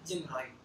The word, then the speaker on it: GMROI: insights on the concept gmroi typically pronounced as jimro gmroi stands for gross